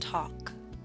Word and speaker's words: talk: boss taught gone talk note the L is silent and talk now I wish